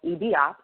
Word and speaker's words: IBiOp: And I wanted to collect data to add midwives to the app that I recently developed, which is called EBOP. It's spelled IBIOP.